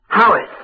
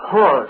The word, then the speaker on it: Haweis: Thomas Haweis, or Haweis, as it sometimes is pronounced, who for many years was the minister of the Countess of Huntingdon's Chapel in Bath.